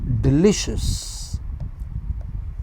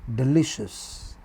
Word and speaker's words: delicious: But in a in an adjective like delicious, here is the pronunciation of this word delicious. This is where the stress is.